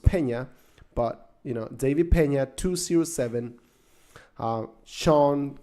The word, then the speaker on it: Pena: David Pena, it's spelled Pena. It's actually pronounced Pena, but David Pena 207.